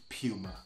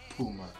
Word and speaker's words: Puma: across the world but the most common and the one that is most reliable is Puma not Puma so you decide how you're gonna skin this cat but at the end of the day I'm holding on tight to Puma just one thing I